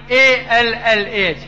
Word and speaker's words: Allah: We Muslims, when we write in English Allah, we write A-L-L-A-H. But Reverend Scofield wrote A-L-A-H. They pronounce Ella, we pronounce Allah.